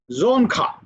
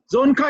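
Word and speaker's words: Dzongkha: behind buddhism and speak you speak the language zonka be this i checked with the google uh how to pronounce and they that's why i'm very confident that i'm speaking right zone zonka is the language uh which they speak and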